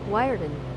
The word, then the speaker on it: Weert: I think it's Weart. It's not German. We It's We Okay, here's the pronunciation of Weert. All right. You know, I'm just going to play it. Here we go. Wireden. Wyen. Oh, I was totally wrong.